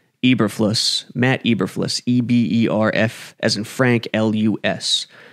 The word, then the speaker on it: Eberflus: coordinator matt i i always forget how to pronounce his name eberflus matt eberflis e-b-e-r-f as in frank l-u-s who was in